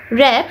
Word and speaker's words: wrapped: এছাড়া আমরা পেয়েছি হচ্ছে র্যাপড। দেখো এখানে WRAPPED, এখানে কিন্তু ওয়ার্ক উচ্চারণ হবে না, হবে র্যাপ। ডাব্লিউ উচ্চারণটা হচ্ছে এখানে থাকবে না, তো র্যাপ উচ্চারণ হবে।